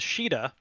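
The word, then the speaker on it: Caeda: like lead princess character in japanese is shida in european localizations that came out later like when they did shadow dragon her name was shida for whatever reason us version kayeda like c-a-e-d-a that is not the same not remotely i have no idea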